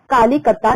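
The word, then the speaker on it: Kolkata: और इसमें से देखिए वन ऑफ दिस वाज, इनमें से एक था कालीकत्ता, जिससे कि बाद में ये सिटी काफी ग्रो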